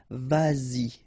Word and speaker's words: vas-y: Same thing here, vas-y, vas-y, all right?